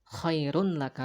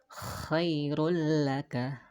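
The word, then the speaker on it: خيرٌ لك: Maka dibacanya bukan khairun laka lagi, akan tetapi dibacanya menjadi khairul laka. Khairul laka, ya, bukan khairun laka, bukan, tapi khairul laka.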